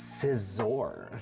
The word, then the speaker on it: Scizor: He's like, it's Scizor. I'm like, oh my bad. So sorry, Your Majesty. I pronounced a Pokemon wrong.